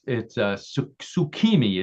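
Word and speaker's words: 月見: It's tsukimi is the way it's pronounced in Japanese.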